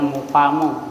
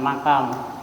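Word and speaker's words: مقام: yang tidak mungkin menetap itu bacanya mukamu bukan makam tapi mukam yang tidak mungkin oleh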